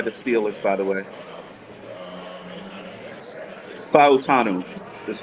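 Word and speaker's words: Fautanu: this pick by the Steelers by the way fanu that's how you pronounce it I like this piit with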